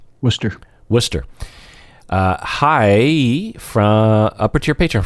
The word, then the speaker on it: Worcester: How do you say that? Worcester.